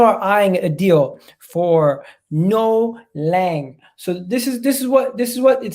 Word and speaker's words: Noa Lang: How do you pronounce his name? Let me say it. It is Noah Lang.